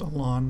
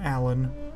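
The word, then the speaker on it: Alans: the Ilan's up there I think it's pronounced a lawn not Alan d Alan's plug my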